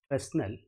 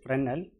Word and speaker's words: Fresnel: study about panel distance some authors pronounce this as personnel but most authors pronounce this as reynolds where s is taken to be silent to define this you